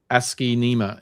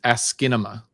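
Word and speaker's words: asciinema: Sorry, Maddie, it's not Ask Nema, it's Askinma.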